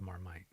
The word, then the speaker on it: marmite: Yeah, why is it called Marmite? Marmite originally came in a small earthenware pot, similar to the kind of French casserole dish called a marmite, pronounced marmite.